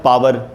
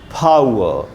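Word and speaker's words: power: English medium बोलते हैं पार। पावर या पार दोनों गलत उच्चारण है, सही उच्चारण है फावर, फावर, प प्लस फ, फावर, और आ उ, ये याद रखना है, फावर।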